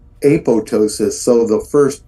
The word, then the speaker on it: apoptosis: told me that this word apoptosis is actually pronounced apotosis so the first p is Island have any